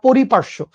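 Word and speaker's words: পরিপার্শ্ব: বলা হয় পরিপার্শ্য মানে সহজ সঠিক উচ্চারণটা পরিপার্শ্য ঠিক আছে আর অন্যভাবে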